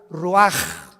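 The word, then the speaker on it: רוח: Y exhaló Isaac el roach, así como suena. Se pronuncia la ch en hebreo como J. Roaj, se le haó y se traduce espíritu.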